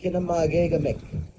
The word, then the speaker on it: Kinoomaagegamik: And of course, at the time, our language teachers helped us with, instead of saying school, we say Kinoomaagegamik.